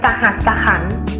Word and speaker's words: สหัสขันธ์: คลุม คำ ต่อ ไป คำ ที่ 5 ค่ะ คือ คำ ว่า สหัสขันธ์ ซึ่ง คำ ที่ อ่าน ถูก ต้อง นะ คะ คือ คำ ว่า อำเภอ สหัสขันธ์ คำ สุด ท้าย นะ คะ